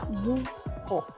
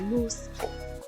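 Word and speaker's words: 息子: Entonces, para decirle al varón, el hijo sería musko. La U antes de la K se omite, entonces musko.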